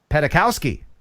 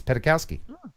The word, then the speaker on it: Petakowski: Jim Petakowski, as if you're petting a cow on skis. Petakowski.